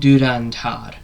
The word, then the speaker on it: Dhurandhar: So I put the effort in and I managed to figure out the fact that it's called Durandhar because some of these films I watch these Indian movies some of the titles they can be hard to pronounce.